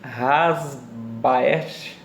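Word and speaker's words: Haesbaert: gente vai se basear no conceito de rogério rassbach ser se pronuncia assim e milton santos milton santos ele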